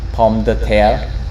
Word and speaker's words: Pomme de Terre: And Paladin, and Pomme de Terre, or whatever it's called. Pomme de Terre? That's how you say it. It's French. Yeah, Pomme de Terre, whatever.